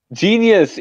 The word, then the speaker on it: Jeenius: Jeenius. It's the word genius, but it's spelled weird.